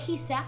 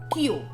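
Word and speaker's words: 久: El kanji de Hisa es pronuncia o bé Hisa o bé Kyu.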